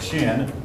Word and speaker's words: Qin: cute pups not humid too high in the pronounced shin they were they began to build a great